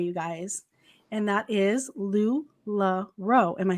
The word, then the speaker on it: LuLaRoe: to discuss today you guys and that is lou la ro am i saying it correctly lodi yes ma'am